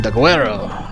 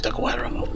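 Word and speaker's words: Daguerreo: Because, back in Daguerro, I have to say it like that, Daguerro.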